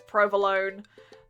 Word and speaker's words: provolone: it and i realize they won't pronounce the e so it's provolone okay yep that took